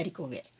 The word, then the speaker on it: haricots verts: Okay, so இதை நீங்கள் cross பண்ணிடல, இந்த எஸ்ஸை வந்து ஸ்ட்ரைக் பண்ணிவிடுங்க. இப்போ ப்ரொனவுன்ஸ் பண்ண வேண்டிய அவசியம் கிடையாது. ஸோ ஹெச் மியூட்டடாக இருக்கும்போது சிலதுக்கு பண்ணுவோம், பட் இந்த இடத்துல வந்து ரெண்டுமே accepted. Okay, Leh ஹரிகோட் வேர், nous aimons les haricots verts, we like beans.